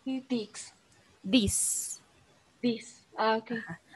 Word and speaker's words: dix: Igual el 6 y el 10, si te das cuenta, terminan como con una X. Entonces, el 6 lo pronuncias como cis y el 10 como dis.